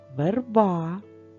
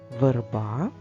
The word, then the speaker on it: верба: до звука и давайте прочитаємо ці слова верба звук е не під наголосом А тепер прочитаємо слово Де звук е під наголосом наголошений верби верба верби друга пара слів